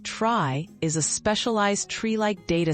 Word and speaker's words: trie: A try, pronounced try, is a specialized treelike data structure used to store collections of strings.